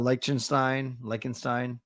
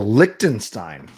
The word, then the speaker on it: Liechtenstein: Czechia, Liechtenstein, Frankenstein.